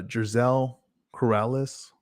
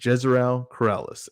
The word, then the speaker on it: Jezreel Corrales: opener you got uh ryo valenzuela versus uh gerzell corrales so make sure i'm pronouncing this correct yeah jezreel corrales and uh you know this is uh ryle